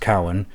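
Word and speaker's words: cumhang: have come to use the Gaelic word kamhang, pronounced cowan, meaning narrow, in a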